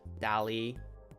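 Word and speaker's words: DALL-E: am familiar with Dali I don't know if that's how you say it d-a-l-l hyphen e Dolly um they've rolled out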